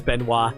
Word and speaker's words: Benoit: I always pronounce it as Benoit. Actually, yeah, you're right, it is Benoit.